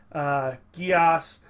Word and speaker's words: Geass: my name it is from the anime code geass he's also right by about the pronunciation it's pronounced Geass I never really minded